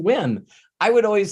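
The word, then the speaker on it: Nguyen: In Vietnamese, it's pronounced Win. I would always say David Nugent, and he never, ever corrected me ever.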